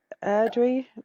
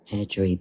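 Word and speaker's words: Airdrie: Erdri, Sheriff Court. Erdo. I've heard of that area. How do you pronounce that? North Erdri.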